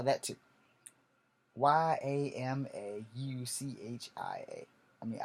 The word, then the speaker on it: Yamauchi: Yashamashi. Okay, we're gonna spell that too. Yamauchia.